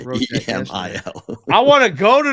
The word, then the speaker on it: Emil: You think it's Emal? It's E-M-I-L. Oh, I wrote E-M-A-L. No, it's Emil.